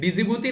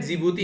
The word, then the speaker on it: जिबूती: डिजिबूती नहीं, यहाँ पर डी साइलेंट रहता है, जिबूती है ये, ठीक है।